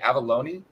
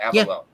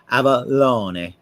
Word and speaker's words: Avallone: i don't even bother the italian pronunciation is closer to avalone but that's a lot of work for americans and i i i default to abalone that's close enough uh i blame i blame sylvester stallone for the fact that